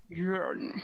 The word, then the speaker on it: Joern: Joern. That's how we decide to pronounce him, right?